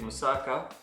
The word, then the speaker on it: moussaka: to make musa how how they say it in greek musaka if i'm pronouncing it